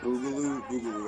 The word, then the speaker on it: Boogaloo: Boogaloo, that's how you say it.